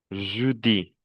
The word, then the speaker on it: jeudi: Je, jeudi, je, jeudi. Ça se prononce E. Jeudi.